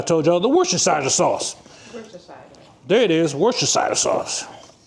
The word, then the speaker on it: Worcestershire: Worcestershire, yeah.